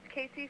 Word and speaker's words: Cassii: these various things It's all under my name Casey which is spelled weird it's c-a-s-i-i and then